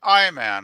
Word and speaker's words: Iman: uh you're talking I I man right Scotty I believe her name is pronounced Iman well whatever name apples